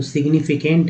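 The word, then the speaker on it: significant: हालांकि जी एन जो है आप अलग से देखेंगे तो साइलेंट होते हैं, उसमें जी जो साइलेंट हो जाता है, लेकिन यहाँ पर जी साइलेंट नहीं हुआ है, तो सिग्निफिकेंट है।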